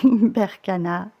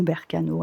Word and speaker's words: Berkano: Et on va finir avec notre petite rune qui est, d'accord, Berkana. Voilà, c'est juste incroyable. Ou Berkano, elle a plusieurs prononciations.